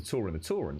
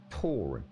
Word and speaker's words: Tauren: It's a Tau, rather than Tor. Tauren.